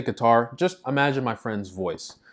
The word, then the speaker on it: Qatar: I would pronounce it Qatar. So the Q is like a qa. It's like you have to say it from your throat.